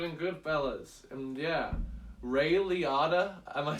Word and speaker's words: Liotta: Ray Liotta, is that what you said?